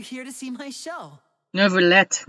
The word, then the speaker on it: Neuvillette: Neuvillette, not Neuvillette. I don't know when do we have to pronounce that T and E at the end for French, man.